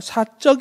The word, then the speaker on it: 사적: 편력 이구요 그 다음에 사적 개인적 이라고 할 때는 4 적이라고 안하고 사적 이라고 된소리로 발음하지 줘 세번째는 사 적 그